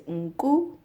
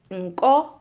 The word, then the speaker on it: nku: Sheep is nku, not to be confused with nko, so that's nose, nko.